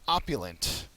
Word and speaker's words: opulent: Next word is opulent. Opulent's an adjective. It has the first syllable accented.